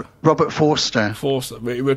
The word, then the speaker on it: Forster: Pronounced Robert Forrester. Robert Forster. Forster. We pronounced it wrong, remember?